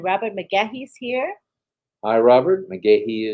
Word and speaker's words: McGahee: McGahee is the way it's pronounced. McGahee.